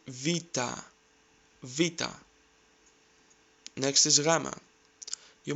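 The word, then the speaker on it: βήτα: have heard it like beta or beta replace the letter B with v and try to say Vita Vita next is GMA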